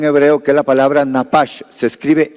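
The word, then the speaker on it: נפש: Este soplar es un verbo en hebreo que es la palabra napash, se escribe n a p a s h, napash.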